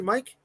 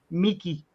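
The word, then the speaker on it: Miike: Takahashi Mike? Miki. Mickey. That's how you pronounce his name, Miki.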